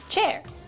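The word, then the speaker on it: Qier: Hi, I'm Cher Wang, spelled Q I E R, pronounced chair.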